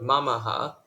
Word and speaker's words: mamaha: on MOA for example in the word Maha there are three syllables and each one has a short vowel and no Cod a consonant this means that each has exactly one Moa so the stress falls on falls on the first syllable the stress always falls